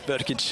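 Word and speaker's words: Vrkić: be replaced by Marko Vrkic. Did I pronounce that wrong, right? You did. Yes, you did. Vrkic, yes.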